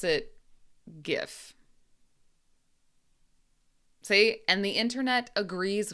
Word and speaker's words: GIF: Because in English, this letter, the letter G, can be pronounced two different ways. So I say GIF. That's what I say. But some people say GIF.